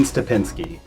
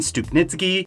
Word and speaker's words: Stupnitsky: crossed i said his name wrong a lot through several seasons gene stapinski thankfully somebody pointed this out before i got to the stress relief episode thank you you kind of tell i couldn't say his name right still jean stupnitsky and okay so here's a